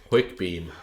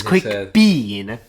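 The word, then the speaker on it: Quickbeam: particularly for you guys it's quick Bean but his actual name is quick Beam Beam it's beam which makes more sense all around but for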